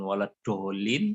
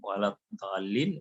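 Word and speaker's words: الضالين: Kemudian waladdo sama tidak jadi bacanya dengan dal, ya. Bukan waladdolin, waladdallin, tapi waladdallin.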